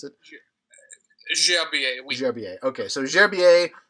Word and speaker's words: Gerbier: Philippe Gerbier, or Gerbier, is that how you pronounce it? Gerbier.